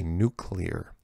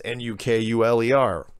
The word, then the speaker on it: nuclear: Because remember, what I used to catch grief because I would say nuclear, and now I'm trying to really force myself to say nuclear, because it's spelled N-U clear.